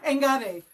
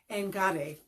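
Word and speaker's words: enkare: Anyway, engare. So it's not a sharp K sound. It sounds more like a G, but it is spelled E-N-K-A-R-E, engare.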